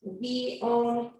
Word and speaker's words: Viognier: Yes, that's pronounced Viognier. It's pronounced a little, or it's spelled a little funny, but that is how you pronounce it.